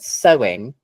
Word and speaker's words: sewing: so remember that um the consonant sound that connects the two syllables in the word sewing is W right that's why it sounds like two syllables one two SE it sounds like two syllables because our brain notices the W sound there even if you don't consciously understand that there's a w your brain unconsciously recognizes it right now this question is